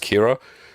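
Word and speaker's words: Qi'ra: it cuz it's like it's just Kiera because it's spelt Qi weird letters anyway and they have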